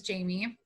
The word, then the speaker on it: Jaime: My name is Jamie, and my mom chose to not spell it the typical way. So it's spelled Jaime.